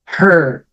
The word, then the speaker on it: her: Veja, aqui com H, eu pronuncio o H como o som de R forte. Him, her, him, her.